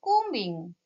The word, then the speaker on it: combing: doing here she is combing so um is the right answer in this word b is silent do not pronounce b so we can say